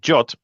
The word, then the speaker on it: JWT: Now this abbreviates to JWT the spec of JWT actually says that you need to pronounce it jot.